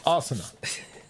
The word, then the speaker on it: Asuna: it in the end in the anime it's Asana that's how they pronounce it somehow you managed to